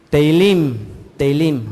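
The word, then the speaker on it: תהלים: Teilim, ¿ok?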